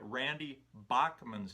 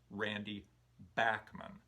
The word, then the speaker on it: Randy Bachman: the beach boys tony balls pointed out that randy bachmann's name is actually pronounced randy backman and strangely enough i knew that i had